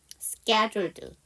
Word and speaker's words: scheduled: 자, 그 다음에 scheduled. 자, 그러면 S 사운드 뒤에 무성음 C잖아요. 그래서 이거는 쌍자음이 돼야 되고요. 이 단어에 묵음이 들어가 있죠. H가 묵음이죠.